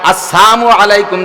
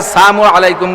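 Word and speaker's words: السلام عليكم: সালামটা দেবেন শুদ্ধ কইরা। আসসালামের লামটা যদি উচ্চারণ না হয়। আসসালামু আলাইকুম। যদি বলে নবী আলাইহি সালাতু সালামকে ক্রিটিসাইজ কইরা কাফেররা আইসা আসসামু আলাইকুম বলতো। সাম মানে মরণ।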